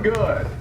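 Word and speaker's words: Goode: Ron Good. Oh. It's got an E on the end, so some people pronounce it Goody, but it's just Good.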